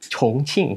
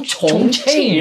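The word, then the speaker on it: Chongqing: Tulisannya cing ya. Iya. C h o n g i n g. Tapi baca bacanya apa? Ba concing gitu. Oh concing.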